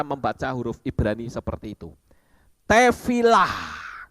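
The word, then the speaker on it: תפילה: huruf Ibrani seperti itu tefilah itu membacanya tefila tapi hurufnya tetap ada yaitu he he artinya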